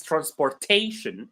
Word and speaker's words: transportation: So information, the syllable right before shin is may, so we stress that.